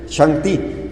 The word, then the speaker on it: Shang-ti: oído hablar de Okay así como está aquí arriba chanti y lo pronunciaban Así es la misma palabra Shaddai alguien Recuerda que es